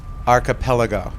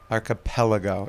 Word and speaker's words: archipelago: Archipelago. Archipelago. It's the the emphasis is on the pel.